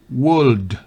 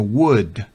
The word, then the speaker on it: walk: la l es muda en Worth no es World sino Walk la l es muda en have no Half